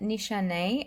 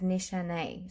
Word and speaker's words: Nishane: Now, I'm saying it Nichane. I think that's how you pronounce it, because I was actually told by someone that was Turkish that it was pronounced as Nichane.